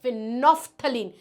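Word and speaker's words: phenolphthalein: फिनोफ्थलीन जिसमें L silent है। एल की आवाज मत दीजिएगा।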